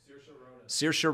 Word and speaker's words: Saoirse: quirky a quirky woman that is played by sheer sheer how do you say it sure sir saoirse ronan almost got it yes and she is